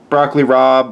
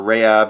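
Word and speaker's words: broccoli rabe: through them really quickly broccoli rob or rehab however you want to pronounce it some spinach left over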